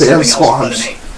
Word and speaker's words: Samsquamptch: I'm mispronouncing it. It's Samsquamptch.